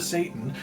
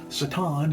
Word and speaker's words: Satan: Satan instead of Satan is standard Hebrew pronunciation, putting the emphasis on the last syllable.